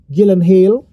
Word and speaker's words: Gyllenhaal: And it was like, do we get uh Jake Gyllenhaal, Gyllenhaal, that's really how you pronounce his name, but you know, you don't have to be that technical with his name.